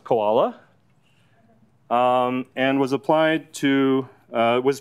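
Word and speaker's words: CWoLa: And so this goes by the name of classification without labels, pronounced koala, and was applied to,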